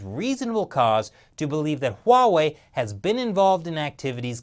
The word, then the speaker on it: Huawei: that he kept mispronouncing Huawei its Huawei with an H people it's not Huawei stop